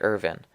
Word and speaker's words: Irvine: and Andrew sandy irvine now irvine's name is spelled i RV I n E and I've heard it pronounced as both Irvine and Ervin I'm going to go with irvine because that's the way it looks like it should be pronounced to my eyes Irvine is another famous